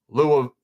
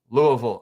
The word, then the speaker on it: Louisville: Oh, Louisville. Louisville. All right, I was wrong. My bad, Drew. Appreciate you. Louisville, that's hard, man. I'm from Seattle. That's difficult. Louisville rhymes with bull.